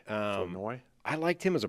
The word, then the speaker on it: Flournoy: Flournoy, I think is how they're pronouncing his name now. Flournoy. Flournoy.